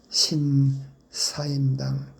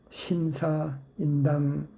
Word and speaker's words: 신사임당: 신사임당 신사임당이라고 해야 되는데 모두 신사 인당 신사 인당이라고 발음하고 있습니까? 참 놀랍지 않습니까? 성이 서시고 사임당이 그분의 당호 호입니다.